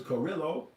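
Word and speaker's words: Kurilla: His name is Karrillo. Sounds like gorilla with gorilla. It's spelled with a K, Karrillo, General Karrillo.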